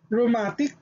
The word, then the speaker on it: rheumatic: again it is a double consonant so the pronunciation will remain as letter r r basic example is rheumatic rheumatic reumati which means pertaining to rheumatism or